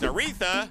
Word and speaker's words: Aretha: favorite song of Aretha yeah it's pronounced Aretha unless you met urethra which isn't too likely so see it favorite